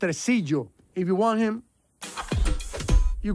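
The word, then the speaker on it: Tresillo: to queen poppy what not so fast tracy we're taking him it's pronounced residio if you want him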